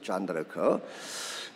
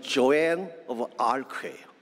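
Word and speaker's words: Jeanne d'Arc: 존 다르크. 불란스식으로는 존 다르크라고 이렇게 발음을 하지만 영어식으로는 조앤 오브 아크예요.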